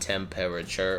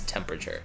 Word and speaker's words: temperature: The way it's spelled is a little misleading, but it's not temperature, right? It's temperature. Temperature. So that E after P and before R, you can just get rid of it and treat it as